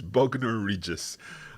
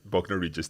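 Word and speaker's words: Bognor Regis: I don't know how to pronounce this. Hola, Elizabeth. It's Bogner Regis. Yeah, Bogner Regis.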